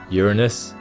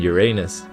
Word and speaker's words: Uranus: It even has two ways to pronounce it, as no one has been able to definitively agree on the matter: Uranus and Uranus.